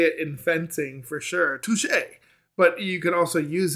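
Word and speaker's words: touché: rock it does um but touche is spelled like touch right but uh touche you know has the the accent that i think of old tom and jerry touche pussycat touche right the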